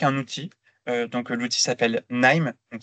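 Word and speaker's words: KNIME: outil donc l'outil s'appelle nime donc c'est k n i m e mais on prononce name euh c'est un util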